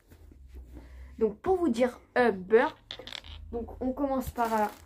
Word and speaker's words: Humber: Non, moi, c'est Humber. Donc, pour vous dire Humber, donc on commence par un H, U, M est égal à B, E, R est égal à beurre.